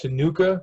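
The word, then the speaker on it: Ctenucha: head this is pronounced tenuka by the way that c is silent so i don't even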